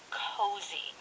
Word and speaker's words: cozy: It's not a J sound. It's a Z sound.